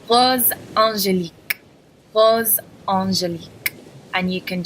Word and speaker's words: Rose Angélique: So the way you would pronounce it is black magnetique, black magnetique. Rose angélique, rose angélique.